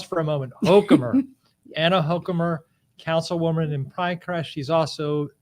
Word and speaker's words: Hochkammer: last name pronounced properly most people in america pronounce it hokemer with a long a right or excuse me a long o and um but you